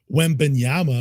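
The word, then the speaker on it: Wembanyama: Wembenyama.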